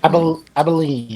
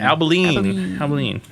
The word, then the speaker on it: Abilene: You guys are in Abilene. Did I say that correctly? Abilene. Abilene.